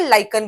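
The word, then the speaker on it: lichen: लीचन भी बोलते हैं, लाइकन भी बोलते हैं, दोनों प्रोनाउंसिएशन है।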